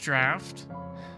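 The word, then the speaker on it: draught: swallow the same bitter draft sub diffused and sacrifice wait it's pronounced draft may have choice but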